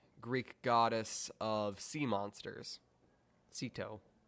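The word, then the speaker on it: Ceto: goddess of sea monsters Sito it also might be pronounced stto but if it's called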